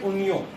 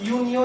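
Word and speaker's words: Unio: Example जो आपके पास, कैसे प्रोनाउंस करते हो आप इसको, इसको प्रोनाउंस करते हैं उनियो. तो जो आपके पास यूनियो या उनियो होता है उसके पास सिर्फ केबस ऑर्गन होता है.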